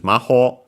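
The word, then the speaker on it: 魔法: And yeah, relative clause, modifying the following noun, which is maho, we've seen it before, magic in general, better witchcraft literally, it's a Chinese compound, unaccented, but yeah, in this case,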